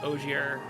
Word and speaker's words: Ogier: So, like, I used to be someone who would be like, yeah, sure, I'll train Ogier and, or OJ, I think is the correct pronunciation, in FE6.